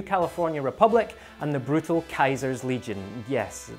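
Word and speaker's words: Caesar: Republic and the brutal Kaiser's Legion. Yes, they do pronounce it Kaiser in the game.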